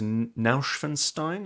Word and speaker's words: Neuschwanstein: went to go and see we went to Neuschwanstein is that how it's pronounced yes which um we've spoken about a